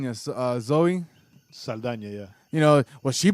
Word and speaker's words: Saldana: the well you know horrible was it as saladin yes zoe saldana yeah you know well she put out a